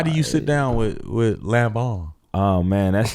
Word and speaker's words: Lanvin: Lanvin, my bad. Lanvin. I think, like, I'm really... You didn't have to say it like that. I did. I had to take a little bass sound like Lanvin.